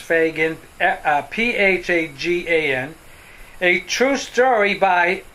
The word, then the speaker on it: Phagan: little mary fagan and her last name is pronounced fagin p-h-a-g-a-n a true story by mary fagan and